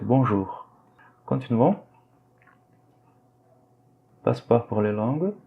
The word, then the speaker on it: bonjour: Faites attention à la prononciation du diphtongue OU, on le prononce par OU. Donc on dit bonjour. Le R à la fin, il est légèrement prononcé. Bonjour. D'accord? Ce n'est pas bonjour, non, c'est faux. Et c'est pas non plus bonjour. C'est entre les deux. C'est bonjour.